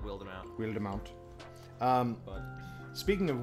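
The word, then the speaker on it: Wildemount: you you called it willed amount i think if the way it's spelled the way it's spelled and with the accent right i think you'd call it wild amount weird amount um speaking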